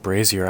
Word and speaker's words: brazier: nothing should be touched so it's pronounced Brazier I always pronounce it brazier um which I guess